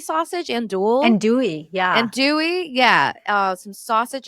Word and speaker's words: andouille: Andouille sausage? Andouille, yeah.